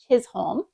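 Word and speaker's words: Chisholm: song is that it was written by Thomas chol that's how you pronounce his name but then it was composed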